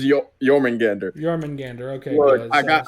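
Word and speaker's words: Jörmungandr: can say it properly was it jorman Gander it was yourmen Gander German Gander okay I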